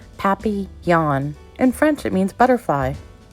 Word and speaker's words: papillon: like our neighbor's dog you say it like this papi yawn in french it means